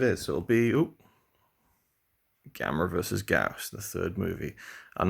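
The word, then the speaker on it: Gyaos: Gauss. That's apparently the correct pronunciation of the film, 1967.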